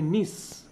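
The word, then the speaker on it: gneiss: Granite থেকে হয় নিস। ঠিক আছে, নিসটা দেখো, গুলিয়ে ফেলবে না, GNISS। ঠিক আছে, জি দিয়ে শুরু হয়, জি এর উচ্চারণ হয় না, নিস। ঠিক আছে, নিস বা নাইসও বলা হয়।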